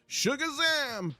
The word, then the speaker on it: Shugazam: Sincerely, Shugazam, pronounced like sarcasm. or pronounced like, yeah, sarcasm.